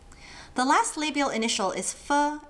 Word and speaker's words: ㄈ: The last labial initial is fu as in fun game without the ungame.